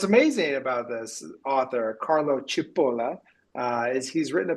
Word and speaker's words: Cipolla: Chipola. Chipola. So we're full tilt Italian.